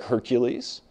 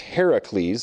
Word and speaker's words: Heracles: 12 labors just like Hercules more appropriately pronounced Heracles that's the Greek word Hercules is a Roman bastardization and so we actually